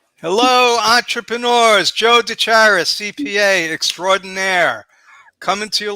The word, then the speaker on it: Gutierrez: Gutierrez. Gutierrez. I wanted to hear your pronunciation.